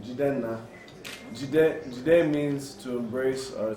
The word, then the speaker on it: Jidenna: Jidenna. Jide means to embrace or to hold. Nna, in the Igbo language where I'm from, in Nigeria, means the father. So Nna, Jidenna. That's how people say it.